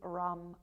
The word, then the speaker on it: ram: And the Manipura chakra, this solar plexus space, the bija mantra or the single syllable mantra is Ram, R-A-M.